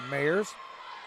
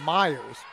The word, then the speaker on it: Mayers: Good serve by Mayers. Excuse me. That's pronounced Meyers.